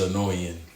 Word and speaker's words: Illinoisan: I think it's an Illinoisan. Illinoisan? The S is silent.